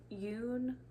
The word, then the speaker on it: Eun: is my un sweater I've heard it pronounced Yun Yun sweater and I've also heard it pronounced un sweater um it's EU n this is by November